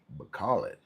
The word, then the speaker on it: Bacolod: I always say it wrong. Bacolod.